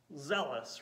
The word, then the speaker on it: zealous: nine again trista and the word zealous rhymes with jealousy let's pause there how